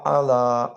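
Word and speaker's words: على: আল্লাহুম্মা বারিক আলা মুহাম্মাদি ওয়া আলা আলি মুহাম্মদ কামা বারকতা আলা ইব্রাহিম ওয়া আলা আলি ইব্রাহিম ইন্নাকা হামিদুম মাজিদ ভালো হইছে বাট আপনার আলাটা আমার আরেকটু কষ্ট করে আইনের উচ্চারণটা আনতে হবে আলা মুহাম্মদ আলা আলী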